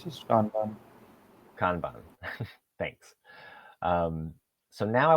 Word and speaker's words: Kanban: I got to look up the pronunciation there, but this is the Kanban view. It's just Kanban.